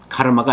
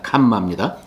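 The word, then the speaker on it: काम: 첫째, 캄마. 카르마가 아닙니다. 캄마입니다.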